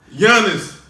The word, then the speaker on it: Giannis: Giannis. The What? G is silent.